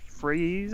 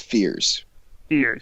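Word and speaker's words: Fiers: Yeah, so former pitcher Mike Freeze, I think is how you say his name? It's Fears. Fears.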